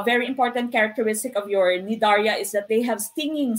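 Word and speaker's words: Cnidaria: you also have nidarias some people would pronounce this nidaria other people who pronounce this as nidaria nidarya silencey these are organisms with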